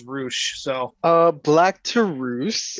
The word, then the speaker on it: Rush: is the same company pronounced Rush as roosh so uh black to